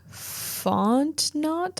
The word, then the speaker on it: Fontenot: for that stunt was Clay Donahue Fontenot, I think is how you say his last name.